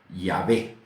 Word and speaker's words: Yahvé: Los hebraístas han llegado al acuerdo general de que la pronunciación original debe de haber sido Yahvé.